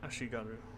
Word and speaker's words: Ashigaru: It should be Ashigaru, actually. It should be pronounced that.